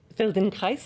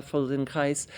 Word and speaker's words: Feldenkrais: Il pratique comment ça se prononce déjà, le Feldenkrais? Feldenkrais, moi je dis, Feldenkrais.